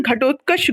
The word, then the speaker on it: घटोत्कच: घटोत्कचा किसका नाम हो सकता है? घटोत्कच तुम लोग महाभारत में सुने हो, पढ़े हो। महाभारत तुम लोग सारे लोग टीवी पे देखे होंगे, घटोत्कच था उसमें। ऐसे वर्ड्स का मिस अगर प्रोनाउंसिएशन गलत होता है, दिस इज नॉट गुड।